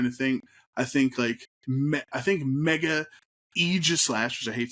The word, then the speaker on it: Aegislash: I think Mega Aegislash, which I hate saying that, but that's how it's pronounced.